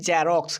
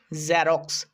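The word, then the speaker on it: Xerox: একটা বিন্দু যুক্ত করি যেটা জেড এর সাউন্ড এটা কিন্তু বর্গীয় জ এর সাউন্ড নয় যেমন আমরা অনেকে বলি জেরক্স কিন্তু এটা জেরক্স না এটা উচ্চারণ হবে জেরক্স জেরক্স জেরক্স একটু ভালোভাবে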